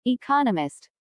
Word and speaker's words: economist: There are 4 syllables in economist, with the stress on the second syllable economist.